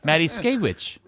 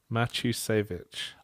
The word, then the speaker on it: Matuszkiewicz: Matuszkiewicz. It was about third degree standard. What is it? How is it pronounced? Matuszkiewicz.